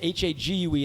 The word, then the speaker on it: Hague: Or they'll look at it, H-A-G-U-E, and they'll go, how do you pronounce that? I'm like, it's spelled like, Hague, rhymes with plague, rhymes with vague.